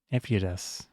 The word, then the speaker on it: Ephitus: I shouldn't have picked a name that was difficult to pronounce because now we're going to use it more. Ephidas. Yeah, I'll just say Ephidas.